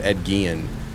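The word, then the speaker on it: Ed Gein: whole character and everything was was based off Ed Gillian. Uh, that's how you pronounce it.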